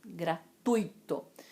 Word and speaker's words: gratuito: A sílaba tônica não é o i, é o u. É gratuito, né? Gratuito. Assim como intuito. Eu fiz isso com o intuito de ajudá-los, não foi com intuito.